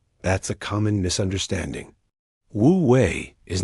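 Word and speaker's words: wu wei: Wooi pronounced wooi is a central principle of Daoism.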